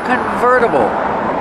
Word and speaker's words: convertible: no roof it's a convertible pronunciation converter Vera use a fast D the T changes to a fast D ver convertible this is a convertible because